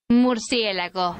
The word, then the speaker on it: Murcielago: And yes, that is the correct way to say it. Murcielago.